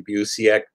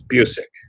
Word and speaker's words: Busiek: Probably Busiek. But my name has been pronounced many, many ways over the years. Tell people the actual real pronunciation of it. It's Busiek.